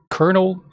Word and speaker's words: colonel: Colonel. That's a weird word. This is a side tangent. English is weird. It's spelled colonal, but you say like colonel.